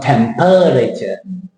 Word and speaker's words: temperature: That's why I crossed the E out there, right? Temperature. Not temperature. Temperature. And the last one.